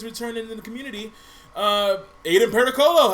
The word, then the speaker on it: Pericolo: Aiden Pericolo, how you doing?